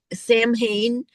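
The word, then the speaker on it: Samhain: The word is Sam Sam Hayne.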